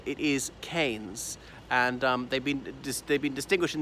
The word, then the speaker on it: Keynes: over the English Midlands em canes as in Milton Keynes well we say that we've ten pronounce the town Keynes rather than Keynes but that man said